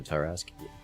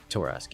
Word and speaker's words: Torask: The names of the Ultralisk mutations, one is a Torask. Torask, yes. Spelled with an O instead of an A.